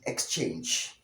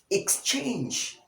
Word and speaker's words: exchange: Now, this one is wrongly mispronounced as exchange. Exchange. But the correct pronunciation of the word is exchange. Exchange. Exchange, or the short e sound, the k sound, the s sound, the ch sound, the diphthong a, the nut sound, and lastly the heavy j sound.